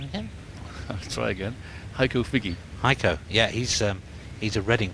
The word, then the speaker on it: Heiko Figge: Heiko Figge.